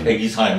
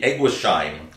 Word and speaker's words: Eguisheim: never know how to pronounce the name of the village. Right. Because if you read it in French, it's yeah. Eguisheim. If you use a German language, it will be Eguisheim.